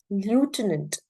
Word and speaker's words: Lieutenant: we speak it schedule it only has two syllable and SK yes the first sound takes the primary stress correct now we have Lieutenant right Lieutenant l i e u t e